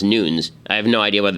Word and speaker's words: Nunes: I'm being told that it's it's not pronounced Nunes even though everybody pronounced it that way it's actually pronounced Nunes I have no idea